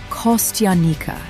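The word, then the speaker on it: костяника: This unusual berry is called kostyanika, pronounced kostyanika.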